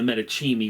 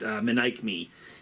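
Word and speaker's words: Menaechmi: And the play in question that we were just discussing is this one, the Manic Me, or as I've always pronounced it, the Medici, which is not correct. Manic Me is the correct pronunciation.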